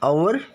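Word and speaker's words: hour: starting three examples adds it's silent so the pronunciation of first one is our of next honest of next layer here all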